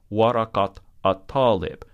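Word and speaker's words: ورقة الطالب: notice here is that when we pronounce it, we say, hadihi warakat at-talib. You hear the ta in ta marbuta. Waraka by itself normally ends with the a sound. Warakat at-talib ends with the ta sound.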